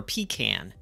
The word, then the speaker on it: pecan: The lady at the counter, when I saw this, she was like, how do you say pecan? Do you say pecan or pecan? And I'm like, it's pecan.